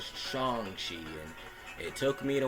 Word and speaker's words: Shang-Chi: time pronouncing his name everyone called him by shangshi but kevin feige himself said it was chongshi and it took me